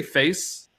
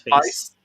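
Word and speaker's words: FAISS: a i s s do they say face like is that is that how could you yeah I think you can pronounce his face yeah uh in this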